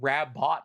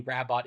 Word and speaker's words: Rabbot: Flynn writing it specifically Bunny's name is not RAB bunny rabbot it is bunny rabo pronounced that way and bunny is like